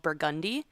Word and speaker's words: Burgundy: Same thing with uh there's a street called Burgundi. It's not cuz I was like Burgundy Street and they were like nope.